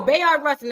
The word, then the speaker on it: Bayard Rustin: Rustin Bayard Rustin Bayard I'm sorry yeah no Bayard Rustin I said it right he had a debate